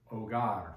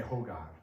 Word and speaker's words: hogar: You just don't pronounce it. So like if you were saying the word hogar for home, you would not say hogar, you would say hogar.